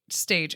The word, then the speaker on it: stage: there's this thing called a stage spelled like stage stage it's a French word it's what you you